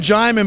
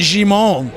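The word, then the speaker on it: Djimon: it well actually actually they called him German but I think it's actually Shimon you know and but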